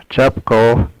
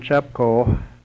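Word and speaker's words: Chupco: know how to spell it sepco yes you spell it yeah yeah John chapco John j o h n chapco c h u p c o and after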